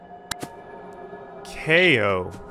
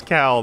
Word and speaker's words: Kao: hairy ko it's time ko okay that is not how i thought that was going to be pronounced i thought for sure it was cal that's the only time